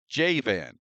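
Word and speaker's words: יָוָן: translated as the name Javan. Again, this is a transliteration. It's not a translation. This is how you pronounce those 3 letters, Javan.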